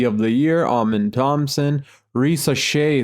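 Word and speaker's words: Risacher: Doncic wins MVP, Zachary Rosachere wins Rookie of the Year, Amin Thompson, Risa Shea, sorry, that's how you pronounce his last name.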